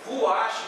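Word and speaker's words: רוח: Se escreve aqui ruash, mas a pronúncia em hebraica é rua, né?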